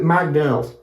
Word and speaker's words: McDonald's: Now, let's continue now with McDonald's. McDonald's in Argentina Spanish, we pronounce it really different. Not really this way. Nobody can say McDonald's. That sounds too hard to say.